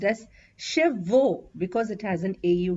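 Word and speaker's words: cheveux: salon for a haircut make sure you pronounce hair as shev and not as shevo the next ones are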